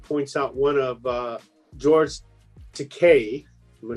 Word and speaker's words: Takei: So right here, 23-520 points out one of George Takei. Am I saying it right? Yes. Takei's.